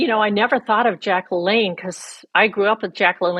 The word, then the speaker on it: LaLanne: And the funny thing about the audio is that she mispronounces one name, Jack. She calls him Jack LaLanne, and he's Jack LaLanne.